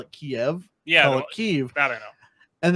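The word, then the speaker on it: Kyiv: not to call it kiev yeah i don't know and then i had a friend text me she's like yo yo dude it's i speak ukrainian it's kiev i was like oh two syllables yeah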